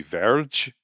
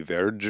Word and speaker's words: Verde: Um and apparently Verde was supposed to be Verge. V E R D E is supposed to somehow be Verge or something.